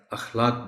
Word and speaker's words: اخلاق: بھی بول سکتا ہے۔ اس سے آپ ہمیشہ اخلاق بولیں گے تاکہ بچے بھی اس لفظ کو درست تلفظ کے ساتھ ادا کر سکیں۔ صفت، بہت سے لوگ